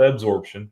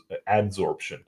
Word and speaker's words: adsorption: we can do it through absorption not absorption I've learned that I was saying it wrong for a long time but uh desicant dehumidifiers use the um the principle of ad adsorption um but yeah so